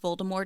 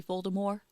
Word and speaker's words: Voldemort: not surprised because like that's the french way and she wants to